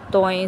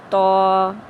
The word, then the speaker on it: ط: سے پرہیز کرنا ہے، یعنی بے، تے، سے، ہے، خے، توئیں، زوئیں وغیرہ ہرگز نہیں پڑھنے، بلکہ با، تا، سا، ہ، خ، تو، زو پڑھیں گے۔ حروف مفردات میں سے